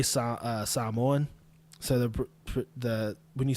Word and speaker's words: Samoan: But anyway, when I say Samoan, so the when you say Samoa or Samoan, when I say it properly, which is how I'm saying it now, Samoans or Samoans.